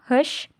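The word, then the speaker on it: خوش: तो अब यहाँ पर बच्चों ये जो वाव है हुश में, इसको हम नहीं प्रोनाउंस करेंगे। ठीक है, इसको हम प्रोनाउंस नहीं करेंगे क्योंकि ये वाव मदूला है।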